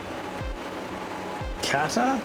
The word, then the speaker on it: Qatar: Kata, that's how you pronounce that.